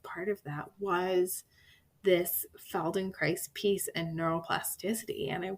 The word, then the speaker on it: Feldenkrais: was kind of part of that was this feldenkrais piece and neuroplasticity and i wondered if you might talk a little bit more about that part too sure um feldenkrais is an incredible modality it's feldenkrais and if